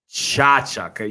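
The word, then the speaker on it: Tkachuk: Chachuk.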